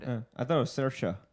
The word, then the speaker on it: Saoirse: Saoirse rhymes with inertia. That's how I learned it. I thought it was Saoirse.